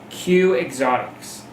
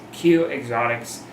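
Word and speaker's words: Keuy Exotics: It's called K-E-U-Y, Q, not Q-E. You can say it however you want. I don't really care. Q Exotics. As long as you follow it, I don't care how you say it.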